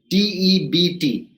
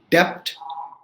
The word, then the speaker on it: debt: the times we hear d-e-b-t i've got a depth to pay right it is not depth right you don't pronounce the letter b i got a debt